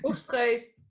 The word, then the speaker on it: Oegstgeest: pronounce it like you're throwing up. Yeah, That helps. Oiskist.